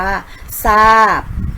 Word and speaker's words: ทราบ: อินทรีย์ และ ทรัพย์ ค่ะ เห็น ไหม คะ จะ ออก เสียง เป็น ส โซ่ ทั้ง หมด เลย นะ คะ เรา ไม่ ออก เสียง ทร ค่ะ อ่ะ ก็ จะ ไป นะ